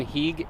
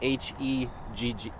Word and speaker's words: Heeg: Ron Heeg, Heegg. Heegg. It's right on his shirt. Spell it again, H-E-E-G.